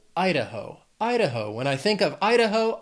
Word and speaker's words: Idaho: Then we have Idaho. Has 3 syllables, stress is on that first syllable, Idaho.